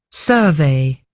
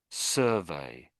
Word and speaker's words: survey: The noun is pronounced survey. Survey. Uh, the verb is pronounced survey. Survey. So the emphasis goes on the the the end when it's the verb.